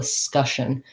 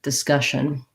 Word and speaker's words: discussion: to this of the discussion so discussion um that this vowel again is a stress schwa and then this ss is an sh sound uh so my sion